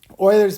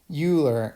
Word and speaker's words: Euler: point this procedure is known as euler's method euler's method is developed by the famous mathematician euler and his name is not pronounced euler i know a lot of people are familiar